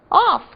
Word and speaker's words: off: Off, que quer dizer fora ou desligado, tem o som de F no final. Pensem que o F duplo faz F. E o outro, aquele que quer dizer of, tem o som de V no final da palavra. Então nós temos off, desligado, fora, e of, de, ok?